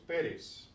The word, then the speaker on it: Pérez: If this didn't have the accent, the pronunciation would be Pérez. Okay, so it's Pérez.